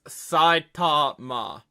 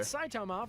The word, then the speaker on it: Saitama: It's Saitama. Let me make sure they're doing that pronunciation correctly. But Saitama from One Punch. Yeah, that's actually not bad. That's actually not a bad pronunciation. Usually, but it's Saitama, but, like, honestly, not terrible.